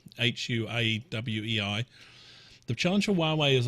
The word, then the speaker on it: Huawei: there's a challenge for huawei pronounced Huawei hua WEEI the challenge of Huawei